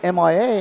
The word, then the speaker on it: Mia: I got trouble pronouncing her name because she spells it M-I-A, and so I said Maya. She said, no, sir, Mia.